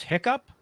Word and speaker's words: HICP: um there's also 405d there's hiccup yes that's how you pronounce hicp and the cpgs um